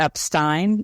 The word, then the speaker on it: Epstein: sort of trails off he definitely says the a the Epstein instead of the Epstein yeah so listen